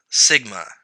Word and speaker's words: sigma: little hooky thing right here this symbol is pronounced Sigma it's a Greek letter they use this symbol